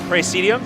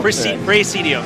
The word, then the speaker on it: Praesidium: show us a bit of their game called Praesidium. Is that how I pronounce Yes, it? Right? yes, that's right. I didn't butcher it, right? No, no. Praesidium. Yes. Praesidium.